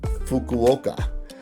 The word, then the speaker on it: Fukuoka: always mess it up, but I believe it's pronounced Fukuoka, as the other, who actually ended up winning the whole thing.